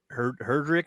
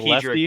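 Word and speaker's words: Headrick: I can't quite remember how to say his name, like Brent Herdrick or something like that. Oh, Hedrick, Brent Hedrick.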